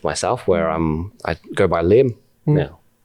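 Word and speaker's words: Liem: And then one of our Vietnamese friends from colleagues, we asked him, he's like, hey, Danny, how do you pronounce this in Vietnamese? L-I-E-M. He's like, Lim.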